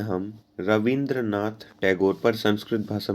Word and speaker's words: Tagore: बोलते नहीं आता था हमारे लिए था होता है लेकिन था उनके लिए प्रोनाउंस करना काफी मुश्किल था तो इसे उन्हें वे लोग रविंद्रनाथ टैगोर काफी फेमस द तो वो ठाकुर का भी फेमस द तो भाई टैगोर बोलने लगे और ज्यादातर स्टूडेंट्स होते